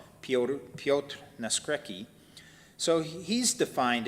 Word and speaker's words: Piotr: who's uh that's the he's um polish and that's the polish pronunciation and spelling of the word peter named peter piotr piotr nascrecki so he's